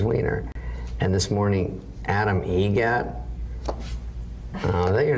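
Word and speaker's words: Eget: How do you say the name? Adam Egget. Egget. Spelt differently. Like the bird. That's Egret.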